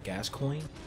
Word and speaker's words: Gascoigne: me get to that okay how do you pronounce his name gas coin yes father the gas coin oh man with